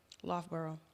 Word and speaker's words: Loughborough: Is that how you pronounce that? Loughborough.